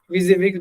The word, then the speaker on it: WYSIWYG: ठीक है, एंड WYSI इज फॉर stand for what you see is what you get, is pronounced at WYSIWYG, basically means that the printer will print what you see on your monitor.